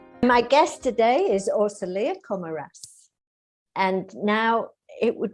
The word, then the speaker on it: Orsolya: your name well it's it's a hungarian name so it's commode but as i've been living in luxembourg for almost 15 years people call me orsalia so i let them